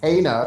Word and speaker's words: Kena: I still want to pronounce it Kina because of my black ass lisp and the fact that it was spelled that way.